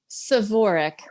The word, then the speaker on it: Svorec: Svorec. So it's almost Svorec. like there's an A after the S, Svorec.